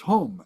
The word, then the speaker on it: hum: hung hu n g in Sanskrit it's hum h M the Tibetans